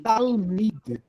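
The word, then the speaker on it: תלמיד: Talmid.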